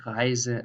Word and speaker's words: Reise: So this is a normal Z, tausend, Reise, lesen.